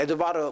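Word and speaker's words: Edvard: 그러니까 이 사람이 누구냐면은 에드바르, 발음은 D 발음은 안 납니다. 에드바르 뭉크입니다.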